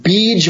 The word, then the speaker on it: Bija: reciting what are called Bij Mantra in Sanskrit. And in English, they always transliterate it with these A's on the end, although the A is actually quiescent. So they write Bija Mantra.